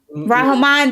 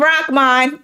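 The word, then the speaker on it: Rahman: like the young man rahan rahan that's how you pronounce it I was calling him rakman yeah out of K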